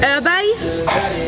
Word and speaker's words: Öberg: Because okay, it's not on. It's not Oberg. Okay, how do you say it? Because in Sweden we have a letter that you guys don't have. Okay, so it's it? Öberg.